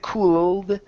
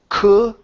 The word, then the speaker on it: could: don't want to say cool okay so take the L out it's only could could almost almost so let's uh